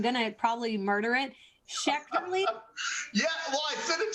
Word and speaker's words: Schechterle: Schechterly? Yeah, well, I sent it to Courtney phonetically. Yeah. So she's got it. I know she does. Yeah, it's Schechterly, but is the but way to go.